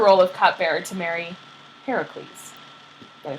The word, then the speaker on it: Heracles: So she left her role of cupbearer to marry Heracles.